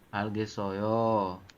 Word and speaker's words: 알겠어요: Algesoyo. 알겠어요. Ya, ingat-ingat ya, ini ada O nih. Ciatnya Ya. yang di bawah naik ke sini jadi so dibacanya. Algesoyo seperti itu.